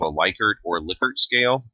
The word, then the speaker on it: Likert: what's often called a Likert or Lippert scale liquor is actually how the name is pronounced with a lot of